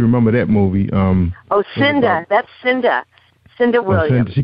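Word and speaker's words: Cynda: That's Cinda. Cinda Williams. She called Cinda.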